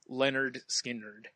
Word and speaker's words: Lynyrd Skynyrd: Metallica so we did Lynyrd Skynyrd pronounced Leonard Skynyrd I love uh I